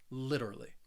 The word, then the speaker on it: literally: me literally again you because i am from the united states i say this word more with that flap t sound so that t in the middle it's going to sound like a soft d sound it is a subtle d sound literally literally and the